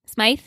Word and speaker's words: Smythe: Smythe. That's what it's like. It's pronounced. It's like in Peter Pan.